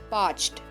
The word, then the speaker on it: parched: you can be parched parched please note that this is a one syllable bird ending with the pronunciation d parched i was totally